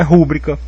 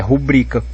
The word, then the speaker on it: rubrica: quem sabe escrever então se as pessoas aí estão escrevendo sem acento É porque não é rúbrica é rubrica né E aí sendo rubrica é uma paroxítona terminada em a não vai levar acento